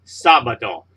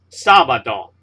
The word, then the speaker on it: sábado: So you say miércoles, not miércoles, miércoles, sábado, and not sábado, because the stress is on this syllable, and the stress is on this syllable for miércoles.